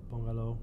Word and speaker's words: Pongalo: I also work at a startup company called Pongalo, or Pongalo for us non-Latinos. And it's can you spell that?